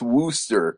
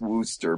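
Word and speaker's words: Worcester: getting it wrong because it's like when you see WC out in New England you don't think it's Wooster so it's probably Glouster just like it's Wooster but yes it is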